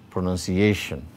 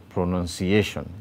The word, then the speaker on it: pronunciation: here are some examples pronunciation pronunciation you can see the secondary stress below none and you can see the primary stress on a then vacuum cleaner you